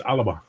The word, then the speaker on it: Alba: It's not Alba, it's Alaba.